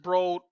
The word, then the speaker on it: Broad: Um, I graduated from Michigan State College of Business, and Eli Broad, he pronounces it Broad, our business school is named after him.